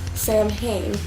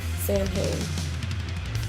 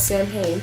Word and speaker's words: Samhain: ever talked about saying hey you've always said Sam hey I so look well maybe he just doesn't know how to pronounce it and I was like no because